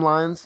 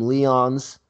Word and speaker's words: Lyons: yeah yeah okay so my name is lines it's very easy to pronounce I don't know why people always messing it up they're always calling me Leon's or loins or 1980s Barack Obama